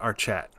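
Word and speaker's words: Archet: He said our Chet. So now I know how to say it.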